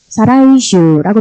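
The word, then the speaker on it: 再来週: 다다음 주가 되는 거죠 그랬을 때는 사이라고 발음을 안 하고요 사라 이슈라고 발음을 해 줘야 되는 거죠 이때 사라 이슈는 다다음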